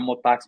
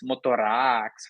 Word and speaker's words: Motax: Mas é engraçado, cara, porque, querendo ou não, essa pronúncia é uma pronúncia inglesa, né? Motax, desse jeito. Então o pessoal chama de Motar X, Motorax, fala um monte de